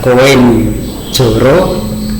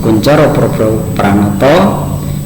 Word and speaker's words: Koentjoro Poerbopranoto: itu Indonesia yang mana Ini menggunakan ejaan ejaan lama untuk di negara kita yaitu Bukan dibaca koin jorok atau b-book tapi di sini ejaan nama cara membacanya koentjoro poerbopranoto Oke menurut Profesor koentjoro